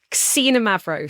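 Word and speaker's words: Xinomavro: Cina Mavro spelled with an X.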